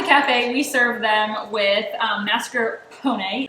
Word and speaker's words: mascarpone: we serve them with mascarpone it's an Italian cream cheese um emphasis on the pony is what I've learned how to say it but if you don't